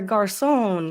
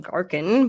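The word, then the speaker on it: Garçon: Julio shout out Katrina it's Pierre Garson not Garin but you know it's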